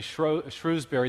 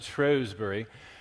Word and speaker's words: Shrewsbury: in uh what we we Americans would say Shrewsbury the British pronounce it Shrewsbury and it's the birthplace of Darwin and it